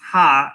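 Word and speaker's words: ห้า: 5 is pronounced ha in Thai, so 555 ha ha ha.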